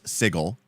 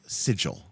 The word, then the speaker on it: Sigil: Um, well, as has been told to me, the official D&D pronunciation is sigle. uh even though the English word is sigil uh but uh you